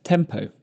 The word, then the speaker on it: TMPO: During this lesson, we'll be looking at a rule I refer to as TMPO, pronounced tempo, which is going to help us organise the extra information in a sentence.